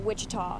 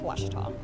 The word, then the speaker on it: Ouachita: oh a cheetah university back in texas everybody pronounces it wichita but really it's washita washita washington how would you pronounce it it's